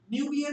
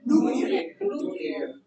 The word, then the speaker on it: nuclear: Nuclear कभी नहीं होगी. Nuclear. जो O साउंड है डबल O साउंड उसको स्ट्रेच करना है. It's nuclear.